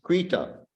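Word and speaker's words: कृत: But there's no long mark over the A. Там нету. Therefore it's Krita.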